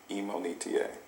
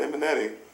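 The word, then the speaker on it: Imonitie: it's my fault but the correct way to say my name is emon eta so people in college when they see me now they're like what who's imo you know eminetti i'm like no not emmanetti eta wow yeah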